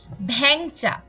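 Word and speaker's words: ভেংচা: যেমন এখানে আমরা দেখতে পাচ্ছি ভ্যাংচা, এখানে কিন্তু এ কারের সাথে অনুস্বার যুক্ত আছে এবং আমরা এটার বিবৃত উচ্চারণ করে এ উচ্চারণ করছি ভ্যাংচা, কিন্তু শেষে যখনই ই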